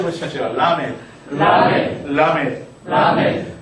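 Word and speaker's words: למד: 이게 이제 여러분 나중에 발음하실 때 L 발음과 R 발음을 구분을 하셔야 되는데 이것은 L 발음입니다. 완전히 그니까 구르는 소리가 아니고 붙였다가 혀를 입천에 붙였다가 나오는러이 발음이죠.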